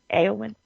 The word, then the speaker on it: Éowyn: But then the deal is that Éowyn, How do you pronounce her name? Éowyn.